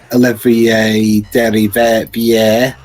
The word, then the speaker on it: Olivier Derivière: Also interesting, the main composer of Streets of Rage 4, Olivier Derivière.